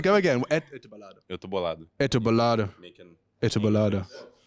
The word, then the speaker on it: Eu tô bolado: Could you give me a proper pronunciation? How do I say that? Eu tô bolado. That is not what's written. Go again. Eu tô bolado.